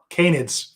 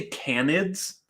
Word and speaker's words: canids: um and other cannons canids for those who didn't hear that I heard cannons for some reason because I said I always say candids instead of canids because weird pronunciation differences um sorry just imagining